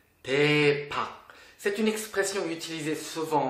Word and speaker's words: 대박: Ça se prononce 대박. 대박.